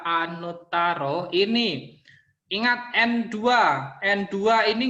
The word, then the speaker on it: anuttaro: Ini anuttaro, Ada T-nya 2 dibaca Anutaro.